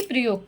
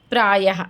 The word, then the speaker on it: प्रायः: तो इसका उच्चारण हा की तरीके से होता है। आहा की बिंदी कहलाती है। जैसे सभी बोल के देखो, प्रायः नमः, बोला ना? तो हा की तरीके से उच्चारण होता है, लेकिन हा नहीं होता है, वो क्या होता है? विसर्ग होता है।